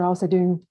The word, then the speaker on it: Alsadoon: Thanks, Professor Alsadoon. Hope I you, pronounced your name correctly.